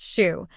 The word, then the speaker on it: Sue: a small parking area Professor Sue pronounced Shu was smart and athletic